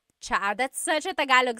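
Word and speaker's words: tsa: Chaa. Chaa. That's such a Tagalog spelling. I love it. There's the T-S sound and then the double vowel pronunciation.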